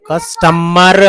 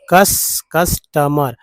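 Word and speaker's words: customer: तो मर हो गया, कस्टमर। और उसके बाद ये देखिए कस्टमर, यू को अ पढ़ते तो कस्टमर, यहाँ ओ को भी अ पढ़ा था, कस्टमर।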